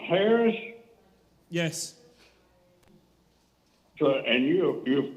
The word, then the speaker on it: Harress: you oh look you say this mister is pronounced harris yes so and you you're from scotland and